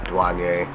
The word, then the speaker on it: Duhjuanyay: duane just because um i spell it duh and then like duh then juan and yay um a lot of